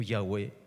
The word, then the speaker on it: Yahweh: En hebreo esta frase se pronuncia Yahvé o Yahweh, en castellano Jehová.